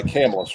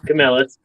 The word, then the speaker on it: Camillus: that's made by by camless right yeah Camillus yeah I just point out something weird I'm from different area I've heard it pronounced both ways it don't matter um but um you